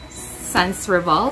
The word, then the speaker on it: Sans Rival: excitement first time okay I think oh sounds revolna um ingredients I love Suns revolved did I say it correctly Sans rival Sans rival okay they have this one and